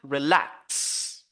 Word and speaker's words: relax: when you have a verb or a preposition, as the general rule says, we should focus on the second syllable. The second syllable, okay? So, and we have here relax, relax.